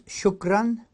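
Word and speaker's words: شكرا: where you go in peace thank you is shukran shukran shukran and yes is none someone says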